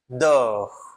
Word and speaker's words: dort: Primeira frase é Le chat dort. Le chat dort. Perceba que o T não é pronunciado.